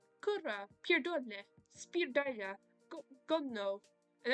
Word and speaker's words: kurwa: Kurwa. I don't know if it's with an R or not in pronunciation, but it's kurwa.